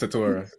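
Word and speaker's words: Tetairoa: I believe it's Tatora.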